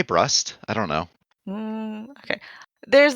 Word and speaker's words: Brust: I say Brust.